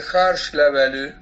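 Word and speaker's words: Hárslevelű: un poco más es el harsh lav así se pronuncia en húngaro significa hoja significa hoja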